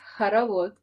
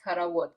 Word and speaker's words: Khorovod: I probably butchered Khorovod. How do you say that? Okay, so this is Khorovod in Russian, and it means the dance when you're holding hands to other people and going around.